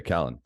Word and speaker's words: Calin: People pronounce it in all sorts of ways. Calin. Calin. I prefer Calin.